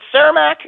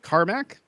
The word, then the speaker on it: Carmack: hired game programming luminary John now is it ceramac is that how you pronounce his name Carmack you actually okay Carmack as its Chief technology